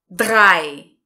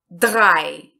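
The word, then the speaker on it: drei: relação à pronúncia e nós vamos pronunciar com o som ea e então fica dae drae drae então vamos aqui o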